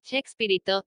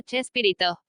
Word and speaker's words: Chespirito: Y la pronunciación españolizada del apellido de William Shakespeare, unida al diminutivo Shakespearito, fonéticamente Chespirito, dio lugar a Chespirito.